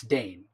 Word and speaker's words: Dane: stitch saying no dang say his name it's dane you know you when